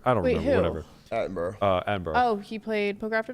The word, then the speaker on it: Attenborough: Hey, he ran it, and Attenborough. Am I pronouncing his last name right?